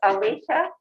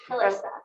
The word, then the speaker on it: Alyssa: You pronounce Alicia? Alyssa. Alyssa, okay, Alyssa.